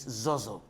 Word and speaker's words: Zohzoh: highway yes that's why h02h well the original pronunciation of the name is zozo zozo and i was very surprised when i